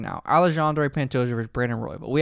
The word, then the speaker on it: Alexandre: Alexander, you got the coolest name when you pronounce Alexander and like Alexander versus Alexandre. That's freaking swagtastic. That is so sick. Alexandre, yeah. Because the X is like a Z and it's sexy.